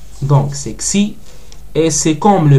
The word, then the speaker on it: xi: Pour ça, c'est xi. Donc c'est xi.